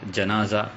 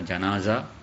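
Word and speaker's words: جنازة: ஜனாசா என்ற இந்த வார்த்தை இது ஃபத்ஹாவின் மூலமாக ஜனாசா அல்லது ஜீமுக்கு கஸ்ரு செய்து ஜினாசா இந்த இரண்டு முறையில் இதனை நமக்கு மொழியலாம், ப்ரொனவுன்ஸ் பண்ணலாம்.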